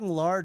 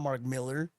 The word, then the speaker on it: Millar: That's Mark Millar, dude. Okay, it's not Mark Miller.